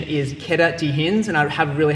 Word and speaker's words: queda de rins: into fall onto the kidneys, and the Portuguese pronunciation is queda de rins, and I have a really hard time saying